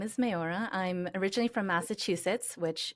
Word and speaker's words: Meorah: to Judaism sure um so my name is mayora I'm originally from Massachusetts which Israelis have a very hard time pronouncing and I'm here right now in Jerusalem